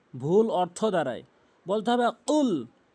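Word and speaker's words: قُلْ: 95% লোক ভুল করে কুল বলে কুল বলে ভুল উচ্চারণ ভুল অর্থ দাঁড়ায় বলতে হবে কুল জিহ্বার গোড়া থেকে কুল ধাক্কা দিয়ে উচ্চারণ করবেন কুল এভাবে তাহলে আপনার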